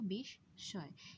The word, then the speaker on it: বিস্ময়: বিস্ময় শব্দটির উচ্চারণও বিষ স্বয়, এবং এখানে দন্ত্য স থাকলেও উচ্চারণ করছি তালব্য স, তাই আমরা লিখব তালব্য স অর্থাৎ বিষ স্বয়।